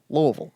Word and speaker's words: Louisville: in the community of Louisville Kentucky and Louisville Louisville yeah they said it sounds like you're swallowing the word and that doesn't help you pronounce it but that's what everyone says to Lille Lille Lille anyway anyways